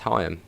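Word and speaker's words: Higham: to do shuttle service you've always called hayam higgm huh yeah it's hayam i think one of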